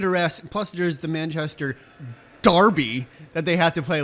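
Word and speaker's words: Derby: know give it a rest Buster's the Manchester Darby that they have to play labor today well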